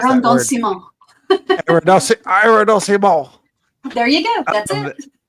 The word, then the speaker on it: arrondissement: I can't pronounce that word. Arrondissement.